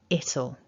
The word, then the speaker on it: it'll: what we're doing is first of all we lose that w and our ear becomes a weak schwa so will shortens to all it'll and if you notice there's stress there on that first syllable of the contraction it'll so let's put it